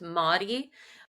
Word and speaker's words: Mari: My name is spelled like Mari, but it's pronounced Motti, which growing up has